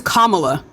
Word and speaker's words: Kamala: it then because I Kama is a word in the English language it is Kamala comma you have never heard her pronounce her name any any any other way any other way so